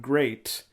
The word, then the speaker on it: Gleat: Muda, because I believe it's a pun on the new promotion Great, which is spelled Gleat. Sure. Yeah, I mean, ours can often be given that L pronunciation in Japanese, so that's just how it goes.